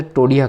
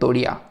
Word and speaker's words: टोडिया: टोडिया या फिर तोडिया। ठीक है? तोड़िया भी कहते हैं। त टो इसमें थोड़ा उच्चारण में फर्क आता है।